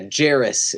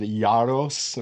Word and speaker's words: Jaros: Um but yeah, Jaros is the way it's pronounced, so nicely done. Thank you. I'm sure in if you go into European settings, they might pronounce it Jaros or something like that.